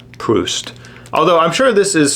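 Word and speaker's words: Proust: book by this guy I called him PR but it's pronounced Marcel PR although I'm sure this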